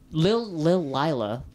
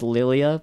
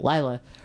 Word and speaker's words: Lila: Lila, I keep wanting to say her name's Lilia, but it's a League character that's named Lilia. Lila, her survival instincts kind of kick in a little bit.